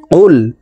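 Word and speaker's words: قُلْ: কফ লাম পেশ কুল কফ হরফ জিহ্বার গোড়া তার বরাবর উপরের তালুর সঙ্গে লাগাইয়া উচ্চারণ করে পড়তে হবে এই কফ জজমালা লামকে ধরবে কফ লাম পেশ কুল হা পেশ হু ওয়াও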